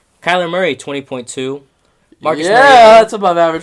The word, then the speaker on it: Mariota: No, I'm just saying of the freaking Mariota. That's how you say his name.